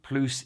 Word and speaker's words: plus: If plus is used with a number or expresses a quantity or proportion, then we combine it with de, but do not pronounce the S.